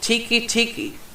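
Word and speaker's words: Teke Teke: This one's labeled Tiki Tiki. Not tiki as in the drink or freaking hut. It's spelled T-E-K-E. Ah. Tiki Tiki is the ghost of a Japanese schoolgirl who roams the train stations of Japan.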